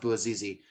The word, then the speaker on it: Bouazizi: book, is called the Bouazizi Empire, or right. I believe it's pronounced Bouazizi, named after Mohammed Bouazizi, who is the man